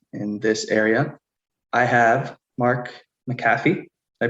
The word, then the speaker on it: Mark McAfee: I have Mark McAfee. Did I pronounce that correct again? Yeah, Mark McAfee.